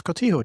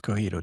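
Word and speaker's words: Cotija: And he'll tell me, "Ah, actually, it's just it's Kotito cheese and it's commonly mispronounced Cojito cheese."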